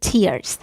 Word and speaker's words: tears: Filled with tears. Tears. دقت کنید که تر نیست. تر به معنی پاره کردنه. ولی در صورتی که این کلمه معنی اشک رو بده تلفظش میشه تیر.